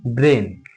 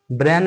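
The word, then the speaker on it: brain: ये क्या हो गया ब्रेन। इसको ब्रान नहीं पढ़िएगा, ब्रेन नहीं पढ़िएगा, इसको ब्रेन पढ़िएगा।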